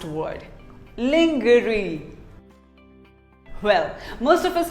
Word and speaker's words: lingerie: another commonly mispronounced word lingerie well most of us call it lingerie no it is not lingerie it is actually called lingerie say lingerie long jury what do you call